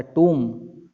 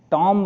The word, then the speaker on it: tomb: और उनका जो कब्र बनाया था, टूम, TOMB ये वर्ड आएगा, ये दिख रहा है ना, ये TOMB, इसको पढ़ेंगे टूम, टॉम्ब नहीं, इसका प्रोनाउंसिएशन है टूम, कब्र।